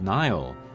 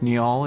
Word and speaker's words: Nial: O'Neal from Paper Moon but Neal I think most people are pronouncing it like Nile with like a long eye but the Katakana does say a short eye uh ni so Neal this is another uh case where the two vowels together are pronounced separately I personally think neol